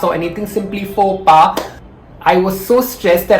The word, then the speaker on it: faux pas: four pass on this excel sheet it's not pronounced as folks pass or anything simply for pa i was so stressed that i committed a